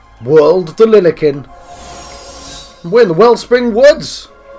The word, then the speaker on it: Lilikin: Right, Lilikin and Jiants, that's how it's pronounced.